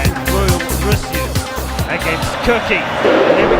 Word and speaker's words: Reulreusyu: In fact, I asked the player himself, it's Reulreusyu, is how he pronounces it anyway, and even he had trouble saying it.